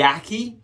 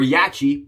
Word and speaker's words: Yaqi: is going to be the yaki or yachi which however you want to pronounce it this is the katana